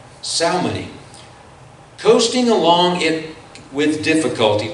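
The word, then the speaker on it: Salmone: And as the wind did not allow us to go farther, we sailed under the lee of Crete off Salona. Salmoni.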